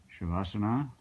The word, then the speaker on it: Shavasana: So learning this position, and if I remember to say it right, this is the Shavasana.